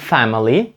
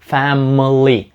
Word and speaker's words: family: літера наприклад в слові Family ви не кажете Family Family ви кажете Family Family майже так як би там не було літери а Family Family і це правильно